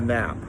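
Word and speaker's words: knap: to be concerned about something called the nap that is spelt k-n-a-p the nap is the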